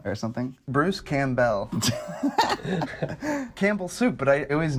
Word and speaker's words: Campbell: and richard grove how did we used to pronounce his name ty didn't we say kampell or something bruce campbell campbell soup but i always knew that but i just assumed his name was cam bell because it's not is this spelled the same